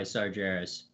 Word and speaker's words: Sargeras: Eve was infected by Sargeras by the way is a soft G sorry arias no one